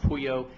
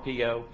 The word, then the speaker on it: Pio: It's actually pronounced Puyo, but we Americanized it. Pio.